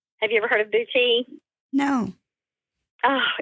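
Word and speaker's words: boutis: techniques I have recently learned how to do boui have you ever heard of bouti no oh it's beautiful you need to look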